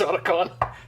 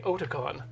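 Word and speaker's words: Otacon: for something bad also I should I should pronounce his name correctly oton the convention is named after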